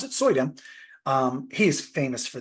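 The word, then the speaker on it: Suydam: zombie and the artist that does this Arthur soyam that's how you pronounce it soyam um he is famous for these covers and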